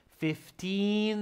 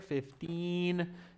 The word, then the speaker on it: fifteen: it's 50 pounds five zero fifty pounds the registration fee is fifty pounds fifteen there's a long e sound there fifteen and this is fifty